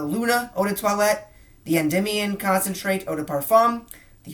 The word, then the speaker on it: Endymion: And I'm so proud of myself that I got to pronounce that correctly, Endymion Concentrate, that Eau de Parfum, because it's kind of a tongue twister.